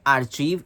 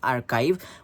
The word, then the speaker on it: archive: next substitution is arive some people say it Archie a r c i but the correct pronunciation is archive what is archive a place where public records